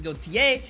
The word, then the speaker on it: Gotye: I've been pronouncing it Gotye. That was wrong. It's actually Gotye.